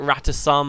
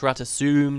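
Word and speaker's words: Rata Sum: I've always called it Ratasum. Apparently it's pronounced Ratasum. Just listen to the trailers.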